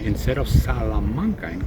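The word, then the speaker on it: Salamanca: the people from there cannot even correctly pronounce the name of their town they say shamanka instead of salanka in correct Spanish you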